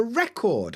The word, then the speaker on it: record: big black things yeah so that one's record record but right now I'm recording a podcast record record is the verb record is the noun that's how we tell them aart same with dessert you